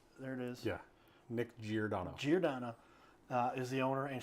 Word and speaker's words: Giordano: Yeah, Nick Giordano.